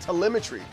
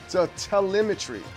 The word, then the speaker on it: telemetry: Oh, it's telemetry. It's It's spelled like elementary. So, it's telemetry.